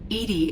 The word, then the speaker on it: EDI: behind the medical bay why are you named edie edie is the phonetic pronunciation of edi that is an acronym for